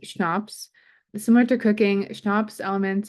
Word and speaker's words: CHNOPS: And we sometimes abbreviate these as CHNOPS, and this could be pronounced schnapps.